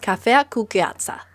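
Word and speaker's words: cafea cu gheață: Iced coffee is pronounced cafea cu gheața.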